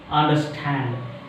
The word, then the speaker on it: understand: What is the special one here?